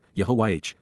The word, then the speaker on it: Yahweh: contempt by Yahweh yahwah God's personal and proper name pronounced Yahweh based upon High to exist